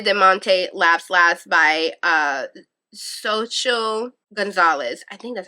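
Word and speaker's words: Xochitl: laughs last by uh social Gonzalez I think that's how you say it social social like you say the X like a z those are my top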